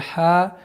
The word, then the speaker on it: ха: Нужно обращать внимание, чтобы ха четко, ясно произносилось, потому что последующие звуки будут со звуком ха.